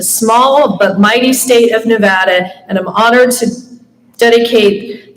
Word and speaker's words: Nevada: West Virginia girl and I always said Nevada when you live there it's Nevada so I'm happy to represent the small But Mighty state of Nevada and I'm honored to